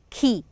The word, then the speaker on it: key: Key. Is the K here silent? No, it's not silent. Key. It's clear.